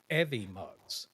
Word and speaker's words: Evmux: some videos earlier, learning about stuff, and it's actually called Evimux. Is how you say it. It's EVMUX. Evimux.